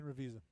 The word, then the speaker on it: Ravizza: But on the other side, dude, how did I pronounce this guy's name? The late Ken Ravizza. Am I saying that right, Dallas? Yes, Ken Ravizza.